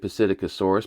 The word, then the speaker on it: Psittacosaurus: I would say Psittacosaurus, but I'm sure the P is probably science, like Pteranodon, right?